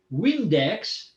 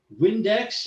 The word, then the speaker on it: Vindex: He learned that a person named Gaius Julius Vindex, he pronounced the V in Latin as if it was a W.